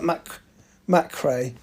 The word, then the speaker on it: McCrae: How do you pronounce that? McCrae. Elle McCrae, MACHRAY.